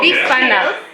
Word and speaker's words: bifana: And I'm sorry, can you say again, how do you pronounce this? Well, bifana.